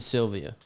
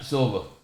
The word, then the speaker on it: Silva: you Jake Paul and Anderson Sylvia that's how you say his name that professional boxer yeah Silva Sil Silva nice shot that's see